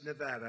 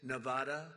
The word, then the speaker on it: Nevada: heard of it and don't ever mispronounce the name you're not allowed to do that you you mispronounce the name you got a problem you ever see somebody when they say it's Nevada Nevada no they're they're in deep they're in deep trouble I I want to